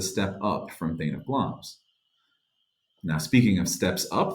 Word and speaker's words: Glamis: Hail to the Thane of Glamis. That's how that's usually pronounced, and that was the title that Macbeth had at the time.